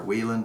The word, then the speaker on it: Whelen: And the last thing I'll mention is that this is 35 Whelen or Whelen, depending on how you want to pronounce it, in the Hawkeye.